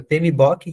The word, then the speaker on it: PMBOK: editam um guia chamado pmbok eh eu falei na primeira aula que a gente não diz book porque não é livro né não tem dois os então a gente pronuncia pem bok que quer dizer Project